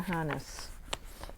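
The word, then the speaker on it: Hannes: called The Other Side by Lisa Hannis h-a-n-n-e-s I think that's how you um pronounce her name and this is done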